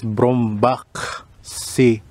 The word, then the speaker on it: Brombachsee: Brombachsee. Yan ang pag-pronounce.